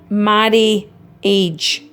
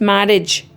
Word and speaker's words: marriage: Marry age. The I is silent. It's marriage. But it's there when you're spelling it.